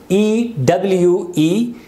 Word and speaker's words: ewe: Then ram, male sheep, and ewe, E-W-E, this is not Eve, it's ewe, female sheep.